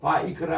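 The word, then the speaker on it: ויקרא: 신, 맴, 콜럼, 타우 해서 슈모트라고 읽습니다. 그리고 또 바이크라 할 때 따라합시다.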